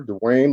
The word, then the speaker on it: Duane: dr lawson uh uh so how would you pronounce uh prefer to be uh dwight yeah you can call me dwayne that's fine i have a southern california very